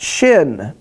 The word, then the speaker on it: Shin: But if you put the dot on the right-hand side, it's pronounced Shin.